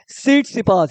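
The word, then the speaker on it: Tsitsipas: को तोड़ो स्टीफेनो उस सीट सपास यहां पे टी साइलेंट है स्टीफेनो उस सीट स पास एंड बिलोंग टू व्हिच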